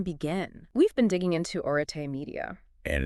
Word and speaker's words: Arete: Pronounced arete, by the way. Right, arete. It's Greek.